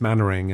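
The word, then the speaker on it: Manwaring: Manwearing is mannering.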